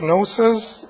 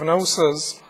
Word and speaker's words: gnosis: The G is silent, so G-N-O-S-I-S.